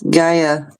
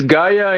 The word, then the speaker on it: Gaia: How about gaya? That sounds um I believe you're mispronunciating that. Yeah, it's Gia. Say her full name. It's Gaia in in America, but in the Spanish countries is Gaya.